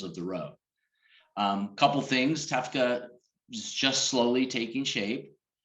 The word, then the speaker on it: TEFCA: if you could mention TEFCA and what are some of the different types of possibilities associated with that? Sure. I think so. The Trusted Exchange Framework and Common Agreement, which we pronounce TEFCA, is part of the